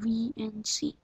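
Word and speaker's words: Veency: want to type in VNC that's not the way you actually think it's spelled it's v e e n c y and there it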